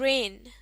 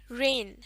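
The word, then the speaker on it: reign: कम ना ग गया अगला लफ्ज़ है रेन रेन इसमें जी साइलेंट होता है मीनिंग देख लेते हैं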